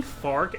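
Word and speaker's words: Fark: but like I realized obviously it's F A R K cuz it's meant to rhyme with Spark. I think I just like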